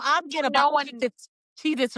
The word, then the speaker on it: Cheez-It: Well, I think also because it's spelled with the Z, Cheez-Its, the it the Z is the S sound. So Right. that's why we're remembering Cheez Its, but there was never an S.